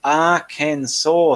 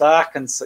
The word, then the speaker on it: Arkansas: Angela Lamb, it's pronounced Arkansas. Thank you for the giggle. Thank you. I've got it now. It's pronounced Arkansas.